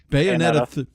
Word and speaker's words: Bayonetta: I can never pronounce this game either. Bayonetta.